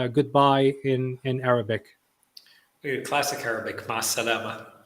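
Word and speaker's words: مع السلامة: Ma salama. Ma salama.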